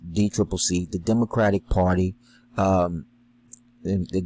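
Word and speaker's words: DCCC: look the the dnc the d triple c commonly pronounced d triple c the democratic party um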